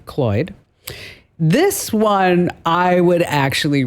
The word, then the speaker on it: CLOiD: LG bought CLOid, pronounced like Floyd, CLOid.